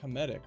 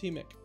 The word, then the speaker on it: hemic: It's like hemetic, right? No, it's hemic.